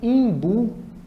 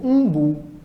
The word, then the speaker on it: umbu: destaque né para ir uma pequena diferença na pronúncia dessa fruta algumas pessoas chamam de imbu ou Umbu a gente não pode dizer que é para não você está errada tá certo porque é uma questão muito regional em algumas localidades por